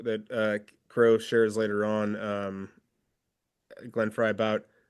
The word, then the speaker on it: Glenn Frey: did I say it wrong? I said Glenn Frey. Fry. Glenn Fry.